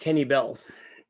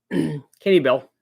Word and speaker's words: Kenne Bell: It is pronounced Kenny Bell. I only read the name in magazines back in the day. Just never heard it spoken. Yeah. Kenny Bell.